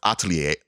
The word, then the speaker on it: Atelier: playing Atelier Asha uh you know what that word is actually pronounced Atelier but uh again not